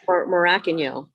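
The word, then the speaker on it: Morakinyo: Tola Morokinyo is how you say his last name. Oh, yeah. Is it really? Yep. Everyone says Morokinyo, but it's Morokinyo.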